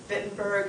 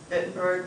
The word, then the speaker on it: Wittenberg: Wittenberg and Worms are the two cities you need to know. Remember, they're both with W's. It's just because they're German, you pronounce it as a V. Wittenberg was where he was